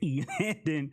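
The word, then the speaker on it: Elandon: for the correct pronunciation of his name is e landon roberts i definitely butchered it up anyway i just kept going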